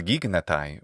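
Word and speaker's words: γίγνεται: I would have expected him to say gignatai, not gignatai, with extra gamma, since the koine form, which is derived from the Ionic form, which is gignatai, would be, I think,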